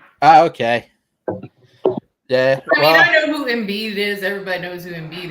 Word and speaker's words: Embiid: Dude, we're watching the Olympics this summer with our nephew, and he keeps saying embed.